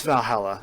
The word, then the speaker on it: VA-11 Hall-A: you want to know it's Valhalla that's how you pronounce it um almost lead speak